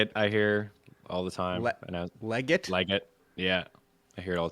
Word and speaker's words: Legette: It's not Legette. You ready what it is? It's Legette. So there you go. Xavier Legette. I'm going to get used to that. Because the heavy enunciation is on the Lee, the L-E, but it's L-E-E, which means it's really Legette.